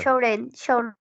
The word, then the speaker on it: should: Shouldn't. Should not or shouldn't. Shouldn't. Sure is. Yes. Durani. Shouldn't. Ok. La L no la pronunciamos. Should not or shouldn't. Ok. The L Should. Okay. don't pronounce.